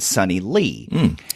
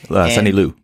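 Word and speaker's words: Liew: listening to my interview with Mags Visaggio and Sonny Lee. Sonny Lou, right? Sonny Lou, I'm sorry. Lee. Okay, speaking of mispronouncing names, Sonny Lou.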